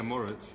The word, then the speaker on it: Moritz: Did I pronounce that right? Yeah, Maurice.